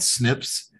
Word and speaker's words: SNP: based on something called snips they're called single nucleotide polymorphisms so it's spelled snp and and and it's pronounced snip and uh and we